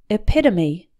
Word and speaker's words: epitome: category or type and this word has four syllables with the stress on the second one it pit to me epitome number four mishap a